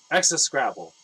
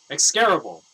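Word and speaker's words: execrable: was the more uh excess scrabble that's how you would read it by syllable but i don't think that's how it's actually pronounced excarable for his pretending not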